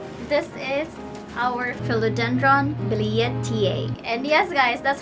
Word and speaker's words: billietiae: today's unboxing is this is our philodendron bilia ta and yes guys that's how you say it